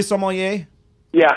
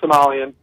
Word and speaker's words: sommelier: guys for having me Jason are we pronouncing that correctly Somali yea Somali yea yea that uh yes not Somalian or I've also heard people say so more year yeah well you know